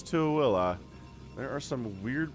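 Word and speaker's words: Tooele: into willa which yeah that's how you pronounce to willa everyone it's not thule it's to willa there are some weird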